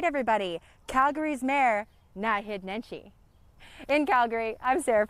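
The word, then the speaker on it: Naheed: It's Nahid, accent on the first syllable. Nahid. First try? Outstanding. All right, everybody. Calgary's mayor, Nahid Nenshi.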